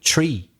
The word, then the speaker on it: three: three they say specifically tree yeah as if it were arable the th is pronounced as if it were just t so they say tree